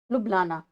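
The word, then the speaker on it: Ljubljana: लुबलाना ऐसे करके नाम है। इसमें जे साइलेंट है।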